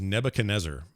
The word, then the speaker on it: Nebuchadnezzar: The game is Nebuchadnezzar. And good job. Yep. If you are familiar with history, you will know what Nebuchadnezzar is.